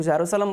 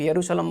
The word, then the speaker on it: जेरूशलम: अगर आपको जेरूशलम समझ में आ गया ना, कुछ लोग जेरूशलम बोलते हैं, कुछ लोग यरूशलम बोलते हैं, अलग अलग प्रोनाउंसिएशन है इसका।